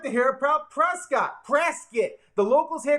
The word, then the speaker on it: Prescott: hey sarah i like the hair prop prescott presskit the locals here call it prisky don't ask me why it's pronounced prayer skit but i love prasca i